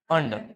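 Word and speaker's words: under: अंडर, क्या है ये, अंडर, ठीक है, हल्का अधरा बोलना है, अधरा, अंडर, ठीक है, रा का उच्चारण नहीं करना है।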